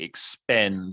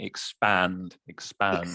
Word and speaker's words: expand: And just with your pronunciation, you sound like you're saying expend. You make sure you're saying expand.